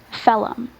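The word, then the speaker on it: phellem: Phelum.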